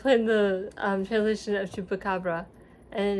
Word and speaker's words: chupacabra: playing the translation of chupacabra, and it's chupacabra. So you roll your R. I can't roll R's.